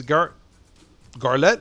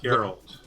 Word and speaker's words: Geralt: Henry Cavill, who plays Garlet, if I'm saying it right. Garlet. Geralt.